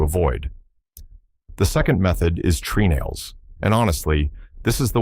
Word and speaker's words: treenail: The second method is treenails and honestly, this is the one that changed my thinking the most. A treenail, sometimes pronounced trunnel, is simply a wooden peg used as a fastener.